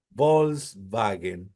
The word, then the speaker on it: Volkswagen: la W los alemanes Volkswagen volks es una B vagen es una B V sí Volkswagen el auto del